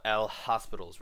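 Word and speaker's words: L'Hôpital: how to solve limits using Li Tall's rule or what a lot of students like to call it L hospitals rule if you have heard about it because the French name is harder to pronounce I guess but basically Li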